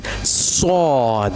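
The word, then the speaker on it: ص: So, it's a bold letter as well.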